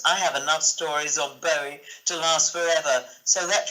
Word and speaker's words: Bowie: It's pronounced Bowie, by the way.